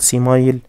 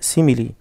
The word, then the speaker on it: simile: simile يعني تشبيه ودي من الكلمات اللي انا بنطق فيها حرف الاي في اخرها مش بقول سيمايل لا simile انها شاذة في نطقها.